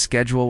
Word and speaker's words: schedule: Another student asked why I pronounced schedule with a soft sh sound instead of a hard sk.